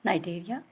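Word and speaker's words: Cnidaria: Hydra belong to the phylum नाइडेरिया, C silent है, और जिसे हम पहले पढ़ते हैं सेलेंट्रेटा।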